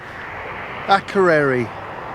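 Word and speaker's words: Akureyri: cup of tea now aquarie which is not far off how it's pronounced I think over the hill and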